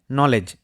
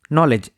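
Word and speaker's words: knowledge: আজকের প্রথম ওয়ার্ড রয়েছে নলেজ। নলেজ। এখানে কে সাইলেন্ট।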